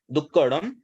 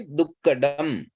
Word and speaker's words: दुक्कडम: दोनों में अंतर समझे ड के नीचे अगर बिंदी आती है ना तो उसको हम बोलते हैं दुक्कड़म सामान्यत हम यही उच्चारण करते हैं यह भी हमारी कॉमन मिस्टेक है हमें बोलना है दुख डम दुख डम डमरू वाला डम एक बार आप लोगों